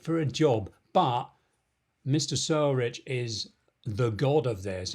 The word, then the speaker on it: Sorich: Michael Sorich? Sour Rich? No, Sorich. Sorich.